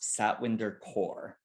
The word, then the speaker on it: Satwinder Kaur: The council member's name is pronounced Satwinder Kaur.